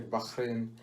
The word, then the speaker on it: Bahrain: about how they say bahrain but as the locals say bahrain yeah and they say they they said you